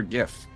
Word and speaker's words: GIF: What's your favorite meme or GIF?